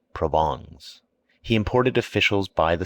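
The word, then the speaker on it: Provence: and his wife's relatives from provance pronounced provon he imported officials by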